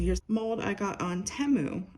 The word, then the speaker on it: Temu: And then I do have, okay, so here's mold I got on Temu. I was actually pronouncing it wrong. It's Temu, not Timu. There's no A in there.